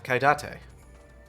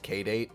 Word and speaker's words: Kaidate: Ah, Kaidate. Can you imagine a person who looks at this name and thinks it's pronounced K-Date?